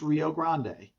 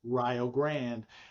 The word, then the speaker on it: Rio Grande: picture of Rio Grand Ohio and it's not pronounced Rio Grande. Okay. Because a bunch of white folks saw it in the newspaper and thought it was Rio Grand.